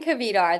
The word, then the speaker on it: Kvedar: It's Cavar. There's no silent letters. Okay. Cavar.